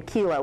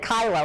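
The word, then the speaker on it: Kyllo: mr kylo who really it's too bad he didn't pronounce his name kilo which would have made the case much more interesting but he pronounced it kylo as opposed to kilo which was a case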